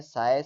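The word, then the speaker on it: psi: symbol होता है इसका जिसको हम साय बोलते हैं नॉर्मली पी एस आई बोलते हैं तो यह नॉर्मली साय रिप्रेजेंट किया जाता है प साइलेंट होता है ठीक है इसमें तो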